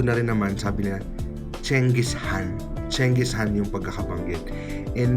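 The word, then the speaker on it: Genghis Khan: Gengiscan, it's not pronounced as Gengisan according to him and napapanood ko na rin naman sabi niya Chengis Han.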